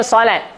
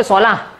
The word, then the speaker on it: solat: Ta marbutah ni kadang-kadang ta marbutah tu bunyi ta ataupun bunyi ha. Contohnya solat. Solat ke solah? Ya. Ah, ya, hayalah solat. Ya, betul. Ni macam ni, ejaan dia, solat. Ada ta marbutah di hujung. Tapi orang Melayu sebut solah ke solat? Dah solat ke belum? Tak ada yang sebut dah solah ke belum. Jarang.